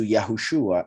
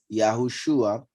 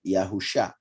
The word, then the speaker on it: Yahushua: here Yeshua and here Yahushua shows that this Shin Ayin is pronounced as if it had a vav between the two letters, and that makes it Shua, not like some people pronounce it, Yahusha.